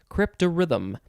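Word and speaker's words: cryptarithm: rhythm so crypto rhythm it's not spelled like that rhythm though c r y p t a r i t h m rhythm crypto rhythm noun from 1943 an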